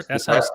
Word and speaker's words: Sikat: Anyway, Sakat, is that her? Sikat, yeah, SICAT? Pastora Sikat. That's Yep. how they pronounce it.